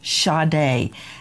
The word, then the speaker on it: Sade: fundraiser for shade's funeral go to Justice for shade and that is spelled s a d like you would say